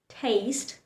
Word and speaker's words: taste: So, in words like bake, clue, and taste, the letter E likes to remain silent. Watch how I pronounce them again. Bake, taste, clue.